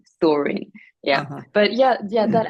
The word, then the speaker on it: Storing: It's Explain like what that's about story, with an N. story, but with an N at the end because it's like in Swedish, you could say storing.